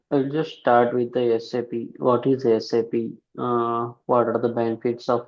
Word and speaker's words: SAP: So, we should pronounce this as SAP not SAP.